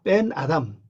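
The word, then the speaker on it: בֶּן אָדָם: 밴 아담 맨 아담 요게 점이 있으니까 강하게 발음해야죠 벤 그냥 뱀 아담 더 세게하면 빼면 되죠 뺀 아담 일어나라이 말이죠 무엇을 이해해야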